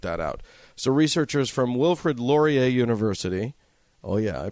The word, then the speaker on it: Wilfrid Laurier: So researchers from Wilfrid Laurier University, oh yeah, I pronounced that right.